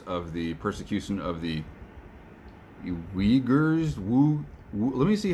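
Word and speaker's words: Uighurs: the persecution of the uyghurs let me see how to pronounce these people's names all right everybody on the internet seems to be saying uyghur so i'm going to go with that uh u-i-g-h-u-r-s um so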